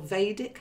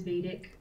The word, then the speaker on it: Vedic: Is it Vedic or Vedic? How's it called? I think that both pronunciations are fine. But what I know the most about Vedic astrology, the way I say it is Vedic. Some people do say it the other way.